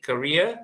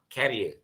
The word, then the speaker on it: career: career objective okay so this is how you're supposed to pronounce it career like quick career okay but it is not carrier okay because the spelling is different and the way you are pronouncing is it is also different okay so the career